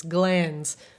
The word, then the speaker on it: glands: We have to pronounce glands as though it has 2 syllables, though.